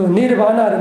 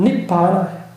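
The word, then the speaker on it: nibbāna: 그 니르바나를 마찬가지예요. 산스크리트는 니르바나를 하는데 발리어 발음은 니바나예요. 니바나. 그 산스크리트 발음을 하면 니르바나.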